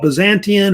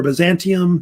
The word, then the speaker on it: Byzantium: or near the Black Sea that was called Byzantium or Byzantium, it's either pronounced either way.